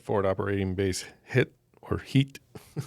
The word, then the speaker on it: Hit: Hit or heat. Heat. Heat. Spel. Oh, hit it. But it's pronounced with an e sound.